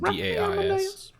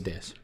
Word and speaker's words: dais: On a dais? Ooh. Or a dais? D-A-I-S. It's a dais. Okay. I've always pronounced it dais. I think you can say it either way and they accept it.